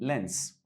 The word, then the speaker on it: length: طول length وحرف الجي silent length.